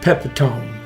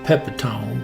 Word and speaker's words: Pepitone: Now, he attacks a fella named Mike Pepitone. Or that could be Mike Pepitone. I worked with a fella and he pronounced it Pepitone, but either way, now he's a grocer.